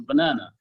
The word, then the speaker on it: banana: For example, the word banana has a main stress on the second syllable, banana, and the other two syllables are schwa sounds.